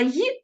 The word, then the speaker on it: ї: літерою і правильна вимова Ї - це окремий пункт для дикторів і радіоведучих тож Якщо хочете говорити і звучати справді українською ї слід вимовляти чітко та не наближати до і ось така цікава вона